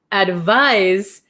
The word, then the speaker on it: advise: spelled with a c advise has a z sound but spelled with an s h why is